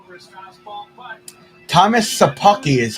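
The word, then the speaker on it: Szapucki: They're all over his fastball, but Thomas Sapucki is how you say the guy's name who started for us today.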